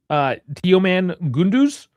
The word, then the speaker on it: Teoman Gündüz: We like the young players, Yeah, and I'll let you correct my pronunciation on this Turkish name. Teoman Gündüz.